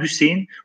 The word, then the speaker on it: Hüseyin: Eğer Y konulmasaydı Hasan olurdu veya Hüsün olurdu. Fakat Y konulduğu zaman Hüseyin, fuail kalıbına giren bir kelime ne yapıyor? Bu şekilde okunuyor.